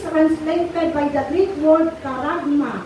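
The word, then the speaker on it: χάραγμα: So sabi dyan, the word mark, sinabing tatak o mark, it is translated by the Greek word karagma o charagma. No? Sa akin, parang maganda siyang bigkasin as karagma.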